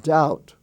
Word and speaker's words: doubt: Or as in the word doubt, like I doubt it, D-O-B-T. The B-T is pronounced as T.